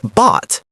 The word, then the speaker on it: bought: The past tense of buy is bought. The spelling is difficult. B O U G H T but the sound is simple. Bought. It rhymes with caught.